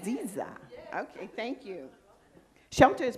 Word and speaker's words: Dziya: Dziya. No, D is silent. There we go. Okay. Yeah, you got it. Did I do it right? Dziya.